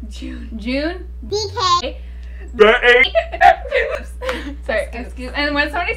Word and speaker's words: Jun: ones uh okay so I know it's pronounced June but I don't like because she we've been saying John for them and I already got used to it yeah we're not new